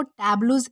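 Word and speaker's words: tableau: को जो है वो टबलू इस तरह से प्रोनाउंस किया जाता है जिसका मतलब होता है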